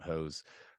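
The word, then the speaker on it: Höss: spelled h SS but in German it's it's pronounced hose uh he begins basically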